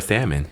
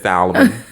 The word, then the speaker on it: salmon: see uh tilapia or salmon salmon yeah she says sandwich she just says solomon the l is silent i'm gonna need y'all